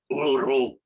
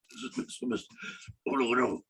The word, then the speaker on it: Uluru: I spent the rest of the day walking around Uluru, and that's how they pronounce it. Uluru. Uluru.